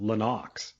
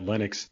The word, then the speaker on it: Lennox: His name is actually pronounced Lenox. He just says he doesn't correct anyone because he realizes that Lennox is the uh regular pronunciation of it.